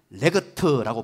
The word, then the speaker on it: LEGT: 투 라고 발음을 합니다 앞으로 여러분 발음할 때 영어 표기법 신경쓰지 마시고 그냥 레그 트라고 바람 하면 되요 내 그 토해서 프로세스는